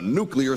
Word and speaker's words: nuclear: It is not nuclear. It's nuclear because it has to do with the nucleus, not the nucleus.